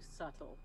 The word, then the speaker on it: subtle: Look, Yes, Altamar, I would definitely call you subtle. I'm glad you pick up. 100%. Mm-hmm. Subtle has one of those like silent letters.